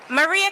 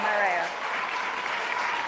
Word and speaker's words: Mariah: She's like, "My name is Mariah, not know Maria."